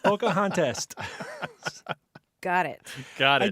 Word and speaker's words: Pocahontas: who wed pocahontas yes what did you rhyme with pompous contest pompous and contest pocahontas got it got it